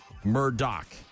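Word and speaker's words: Murdaugh: It's actually pronounced Alec Murdoch.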